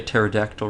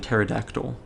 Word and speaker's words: pterodactyl: in it she'll say p as in pterodactyl uh which as you can imagine throws people off cuz a lot of people don't think of pterodactyl as being spelled with a p oh here we are